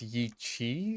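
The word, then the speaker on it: Yi qi: Um, I believe it's pronounced Yi Chi because the Q in Chinese is like it's like a CH, right?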